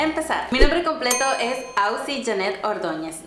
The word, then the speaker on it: Auxi: mi nombre completo es ausi Janette Ordóñez no Auxiliadora que es como muchísima gente piensa que me llamo Auxiliadora y que me lo corto a la mitad pero no se escribe a ux x y soy de Honduras